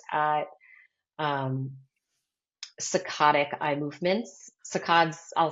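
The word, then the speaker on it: saccades: Sacods I'll spell that too because I think a lot of people ask me that it's um and some people say cicades but what cicada is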